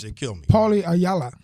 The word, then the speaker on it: Ayala: How do you pronounce those Hispanic names? They kill me. Paulie Ayala. Ayala.